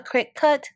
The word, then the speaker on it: Cricut: And finally, Cricut is definitely not an insect. It is again a Cricut, like cutting, cut.